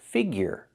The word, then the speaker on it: figure: Now let's look at the second pronunciation year with the Y sound like in yes and yesterday plus the sound like in burger. Your example figure insecure failure pure and cure.